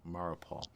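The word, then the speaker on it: Mariupol: as of late especially in this town of marupaul that's spelled m-a-r-i-u-p-o-l and it says literally why why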